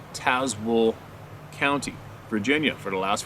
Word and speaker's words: Tazewell: I have lived in Tazewell, pronounced Tazewell County, Virginia, for the last 47 years.